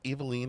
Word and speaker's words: Eveline: And then get really, like, outsized mad at anybody who mispronounces it. It's Eveline, actually.